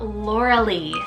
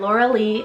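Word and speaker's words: Lauralie: name was perfect for her then I have Laura Lee spelled l-a-u-r-a-l-i-e Lauralee now this one is very playful a little bit more longer if you want three syllables and Laura Lee is like Botanical inspired and it means Bae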